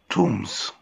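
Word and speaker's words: tombs: ان بيوتيفول تومز، في مقابر جميلة. ان بيوتيفول تومز، هنا في تومز البي سايلنت لا تنطق.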